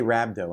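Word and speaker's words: rhabdo: okay R and then how do you say it just say rabdo and everyone will know rabo okay right I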